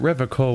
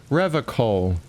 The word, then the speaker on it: Revachol: I'd like to pronounce it the hard way, the old way, the Vespertine way.